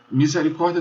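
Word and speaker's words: misericordia: Misericórdia tem mi, se, ri, cor, di, a. 6 sílabas. Se você prestar atenção na penúltima sílaba, o i, misericórdia, ele não tinha tracinho sobre o i. Então quer dizer que ele é uma sílaba breve.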